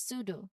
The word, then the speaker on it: pseudo: Next is pseudo. Again, the P at the beginning preceding an S. So the P is silent and it's pronounced as pseudo.